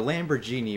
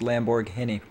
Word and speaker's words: Lamborghini: here we have the lamborghini mercia lego for five hundred and thousand dollars i'm sorry i'm sorry real quick real quick your accent was wrong it's pronounced lamborghini oh oh i'm sorry